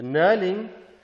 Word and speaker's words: knurling: go to the knurling the knurling with the silent k is this component here